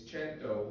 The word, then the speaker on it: cento: to the Greek KRON in Italian it's ch it's chento which they associated with the number 100 but it doesn't have